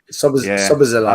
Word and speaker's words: Szoboszlai: And the other guy, sorry, pronounce his name because I'll kill it. Still, was it Szoboszlai? Szoboszlai.